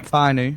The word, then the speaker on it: Fainu: They've got a good backup in Fainau. Is that how you pronounce his name? Latu Fainu. Yeah. Fainu.